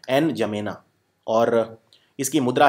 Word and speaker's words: N'Djamena: इसकी राजधानी है N'Djamena, ये डी साइलेंट होता है, N'Djamena, और इसकी मुद्रा है central African Frank, CFA Frank, छैड।